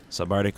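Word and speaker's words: SVB4RCTIC!: So if you're looking for that, it's going to be pronounced Sabardic, but it's not spelled that way because I wanted to be different.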